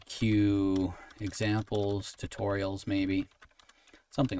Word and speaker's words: Ciw: Notice that Q is spelled C I W. And this is the Welsh spelling of the word Q. An English spelling would be something like Q U E U E.